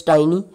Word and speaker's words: tiny: Like you might have heard some student pronouncing this word teeny and tiny. Now actual pronunciation is tiny, but our students, it's a diphthong, but they pronounce it as teeny, that is a short vowel sound.